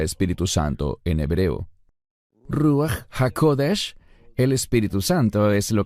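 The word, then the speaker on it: רוח הקודש: ¿Cómo se pronuncia Espíritu Santo en hebreo? Ruahodesh.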